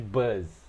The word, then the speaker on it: buzz: A gente sabe que bus é ônibus, mas nós já estamos falando de bus, estamos falando de buzz, tá? É diferente, a pronúncia é bem parecida, quase igual, mas esse buzz é como se fosse ele pode ser muitas vezes um zumbido, tá?